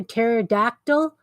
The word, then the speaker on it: pterodactyl: But I also got them each the book P is for Pterodactyl, which is the worst alphabet book ever. It's all silent letters, right? Like pterodactyl starts with P.